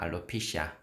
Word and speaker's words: alopecia: 알로펙시아. 그런데 원어민 발음은 알로피시아입니다. 알로피시아.